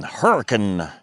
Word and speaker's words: Hurricane: recovery right here in Hurricane, Utah, located near Zion National Park. And yes, those are the proper Utah pronunciations of those two words.